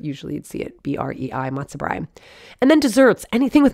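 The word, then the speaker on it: matzo brei: well to make the matzobrine that's b-r-e-i sometimes it's spelled b-r-i-e but usually you'd see it b-r-e-i matsubri and then desserts anything with matzah is a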